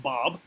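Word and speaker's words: Bab: the bob all right b-a-b b-a-b pronounced bob and that's the arabic word for gate the gate um after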